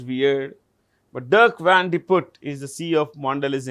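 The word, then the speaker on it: Dirk Van de Put: what's the name it's a very long name Durk van D put you can double check this okay it's right sounds weird but dark vanut is the CE of mandelis international Nestle uh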